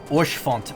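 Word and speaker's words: Haurchefant: These are French names that should be pronounced Orchfont.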